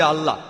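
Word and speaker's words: Allah: একমত উচ্চারণে কিছুটা পার্থক্য তারা বলে আলা আমরা বলি আল্লাহ উচ্চারণ কিছুটা আলাদা তবে শব্দ দুটো একই দুটো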